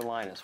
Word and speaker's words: Linus: came along linus or linus what's exactly your preferred pronunciation um when i speak swedish it's venus when i speak finnish it's linos when i speak english it's linus and i really don't